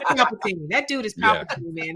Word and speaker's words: Palpatine: I think you mispronounced emperor. He is Palpatine.